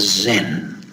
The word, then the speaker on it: Zen: And when it went to Japan, from Korea, it was pronounced as Zen. Zen is the Japanese pronunciation of the Korean pronunciation of the Chinese pronunciation of Dhyana.